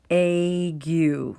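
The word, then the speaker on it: ague: for a fever and we pronounce it with egg you sow egg you if you're suffering from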